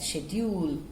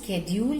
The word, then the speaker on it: schedule: to that schedule children's schedule is also correct pronunciation schedule you know the news readers if you observe they don't schedule schedule it is this is schedule so both the pronunciations are correct schedule also schedule also